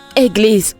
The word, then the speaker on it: église: Église ou église? C'est église. Église.